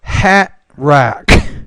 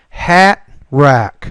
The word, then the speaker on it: hat rack: three hatra it's more hat rack we excuse me we don't actually pronounce the T there but hat rack number four Manhattan Manhattan